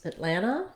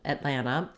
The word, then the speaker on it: Atlanta: saying at atlanta is how we handle the ts in this word so i would say for the most part most native speakers will use firstly a stopped t in the first syllable so uh rather than